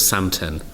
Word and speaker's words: Samten: I've got a mindfulness app that's called Samten. Samten. Can we spell that?